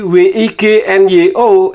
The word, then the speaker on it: Wignyo: Seperti WIGNYO itu hurufnya. Membacanya Wignyo.